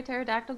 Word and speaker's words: pterodactyl: Is that why you can't hear a pterodactyl go to the bathroom? Because the P is silent.